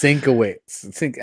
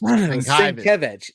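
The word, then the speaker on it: Sienkiewicz: week's Sinkowitz. I am not Yeah. gonna go there. Oh, Yeah. you're still not saying it right. Sinkevich. Sinkevich.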